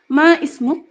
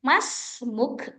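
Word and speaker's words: ما اسمك: Ma ismuk? Ismil Kamil Fatih. Oke, stop sebentar. Uhti Hidayanti, cara bacanya, alifnya kan nggak berharokat. Jadi langsung Mas Muk, tadi kata saya.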